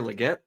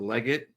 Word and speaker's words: Legette: away so I've got Xavier Legette or leged depending on however you want to pronounce it uh this is a